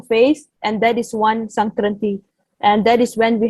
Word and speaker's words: संक्रांत: So the actual word, the actual pronunciation, or the actual word for Sangrant is Sankrant.